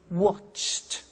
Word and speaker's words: watched: are hard sounds now when we add the e d what happens is the pronunciation becomes T we don't say watched we eliminate the E and we say watched okay interesting he so